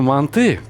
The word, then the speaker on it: манты: А я советую готовые манты, да-да, я произношу на узбекский манер, потому что я родился и вырос в Узбекистане. Мы говорим манты. Так вот, готовые манты, а не манты, непременно смажьте кусочком сливочного масла. Впрочем, подождите. Мои дорогие казахстанские братья и сестры, вы произносите манты с ударением на русский манер?